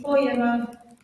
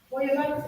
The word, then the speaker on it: Feuerbach: Feuerbach es el señor que tiene nombre estornudo, que se escribe así.